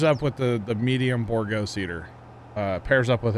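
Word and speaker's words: Bourgault: to empty so yeah it's borgo not borgal i get yelled at for saying borgo by some people what's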